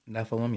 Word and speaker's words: Nephilim: I think I'm pronouncing that right. Nephilim, yeah.